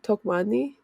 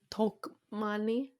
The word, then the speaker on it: Tokmanni: So you overpronunciate the first part, so it's talk. Was it Tokmanni? Yeah, Tokmanni? I think so. Okay. But you like overpronunciate the first like two letters. So Tokmanni?